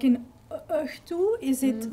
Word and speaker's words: õhtu: Yeah, because we have a German past, and some of it is being pronounced in similar ways. But the h, like in õhtu, is it like this one with the?